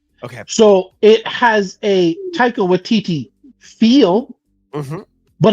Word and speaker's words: Taika Waititi: You just gotta call him Taika Waititi. TT. It's even spelled weird. It's not even. It's spelled.